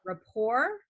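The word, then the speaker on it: rePour: yeah, There's also a new product out on the relatively new on the market called it's spelled re-pour, although I think they yeah, pronounce it rapport.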